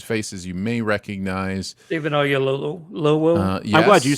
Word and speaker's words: Oyelowo: David Oyelowo. Yes. I'm glad you said that. I have no idea how to pronounce that.